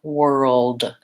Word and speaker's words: world: Once I can say girl, I can say whirl, and then just add my D, world.